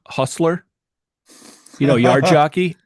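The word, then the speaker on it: hostler: uh I was with family and I was pronounce h o s t l e r Hustler you know yard jockey h o s t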